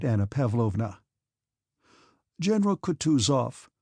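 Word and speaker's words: Kutuzov: said Anna pavlovna General coutu off said bonsky speaking French and stressing the last syllable of the general's name like a Frenchman has been pleased to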